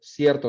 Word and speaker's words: cierto: One syllable, cierto. It's not cierto, cierto, cierto, cierto, not cierto.